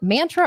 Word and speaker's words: mantra: You're, and so now this alumni, it's kind of like is it mantra or mantra? Mantra. Thank you. Just like it's scenario, not scenario.